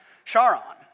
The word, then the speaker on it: Charon: pronouncing the name of this moon right i pronounce it charon and those of you with a classical education